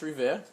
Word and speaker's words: Revere: Not sure how you pronounce it. You were a little off. It's Revere.